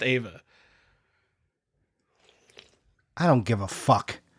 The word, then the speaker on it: Eva: I think it's pronounced Ava.